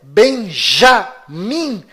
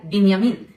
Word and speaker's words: בנימין: Esta pronúncia Benjamin Netanyahu é falsa. Inclusive, no hebraico não existe letra com som de J. E o filho caçula de Jacó se chama Benjamim, ou em hebraico, Binyamin, e vem da mesma